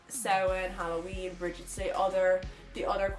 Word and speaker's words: Samhain: Like if anything, you learned how to pronounce Samhain properly instead of Samhain like they say in Halloween and in many other